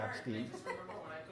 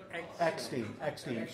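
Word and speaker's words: Eckstine: No, his name is Billy Epstein. Eckstein.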